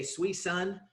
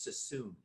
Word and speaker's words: Suisun: Yeah, I would always say Suisun, and everybody said no, it's not. It's not Suisun. Sassoon. It's Sassoon.